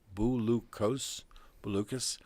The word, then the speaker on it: Bouloukos: K as in kite, O-S as in Sam, Bouloukos.